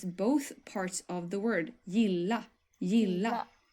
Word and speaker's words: gilla: Gilla. Gilla. So you stress it twice.